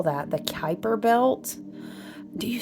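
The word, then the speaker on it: Kuiper: the um dude I don't know how to spell that the Kyper belt do you spell it with a C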